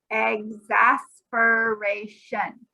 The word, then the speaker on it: exasperation: It's this word, exasperation. Exasperation. 5 syllables. Exasperate. Exasperation. Perfect. Exasperation. It almost starts, instead of saying X, we don't really say exasperation. It's more sounding like eggs.